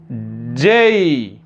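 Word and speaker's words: Z: তাহলে উচ্চারণটা কি হবে? যেই, যেই, যেই, যেই।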